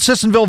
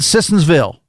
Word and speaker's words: Sissonville: Text says, if you want Sissonville votes, pronounce the town correctly. It's not Sissonsville. It's not plural.